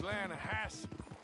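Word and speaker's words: Lannahechee: drought you mean the lahash river no no no no no no the the lahache it runs right near here yeah but it's pronounced lassi why is everything in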